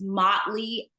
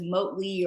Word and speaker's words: Motley: is usually pretty easy mle is the one that hangs some people up and so um make sure that you know that it's Motley as opposed to moley or any other pronunciation it's the Marshall mle